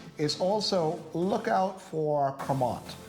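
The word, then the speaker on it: Crémant: But the other thing that I would encourage people to do is also look out for Cremant. C-R-E-M-A-N-T.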